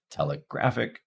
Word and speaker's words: telegraphic: Now, in the case of telegraphic, we can hear primary stress on graph, telegraphic, and in insurmountable, we can hear primary stress on mount, insurmountable.